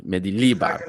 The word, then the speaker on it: Mendilibar: Yeah, the accent's on the second one, Mendilibar.